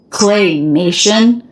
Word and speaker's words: claymation: have to be claymation claymation play Up Down clay Nation so you sort of stress in clay clay even though the most stress syllable is May Nation claymation and he's making